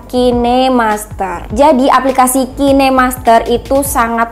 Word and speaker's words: KineMaster: gunakan adalah kinemaster tuh cara bacanya itu adalah kinemaster ya teman-teman bukan Kind Master maupun kain Master itu salah yang benar adalah kinemaster jadi aplikasi kinemaster itu